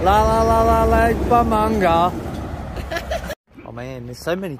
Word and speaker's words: Bumbunga: La la la la Lake Bumbunga.